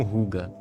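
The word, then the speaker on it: hygge: Isso tem até um nome por lá, se chama ruga. Essa palavra aqui, que se pronuncia algo como ruga.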